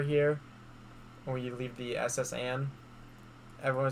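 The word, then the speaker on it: S.S. Anne: I have a friend that calls the SS Anne the Saint Annie or something. And I'm like, no, it's the SS Anne.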